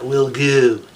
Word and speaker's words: Wilgoo: So you have to say it like that, Wilgoo.